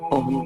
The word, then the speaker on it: ओम: ओम का उच्चारण करते हुए ध्यान देंगे। ओ बोलते समय मुंह खुला हो, लेकिन म बोलते समय मुंह बंद हो।